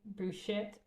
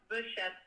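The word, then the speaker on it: Behçet's: everyone what is B how do you say it buet I think it's pronounced buett disease but I could be wrong as well so basically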